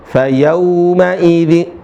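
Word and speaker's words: فيومئذ: Fayauma idzin pakai u bukan o.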